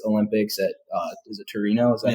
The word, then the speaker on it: Torino: alternate in 2006 Olympics at uh is it Torino is that how you say it yeah uh